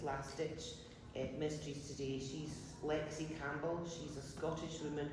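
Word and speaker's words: Leagsaidh: Her Lexi is spelled L E A G S A I D H which is how you spell Lexi in Scots ga.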